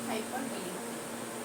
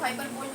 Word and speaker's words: hyperbole: चलो, ओके, हम लोग नेक्स्ट क्या देखेंगे, हाइपरबोली, ठीक है। हाइपर, इसको हाइपरबोल मत पढ़ देना भाई, इसको क्या प्रोनाउंस करते हैं, हाइपरबोली, ठीक है।